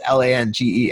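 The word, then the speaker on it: Lange: name like oh it's LAN GE and it's you i yeah it's just it's ongoing but no it's pronounced Lang in housing so it it's Dutch but it sounds pretty German so I'm not which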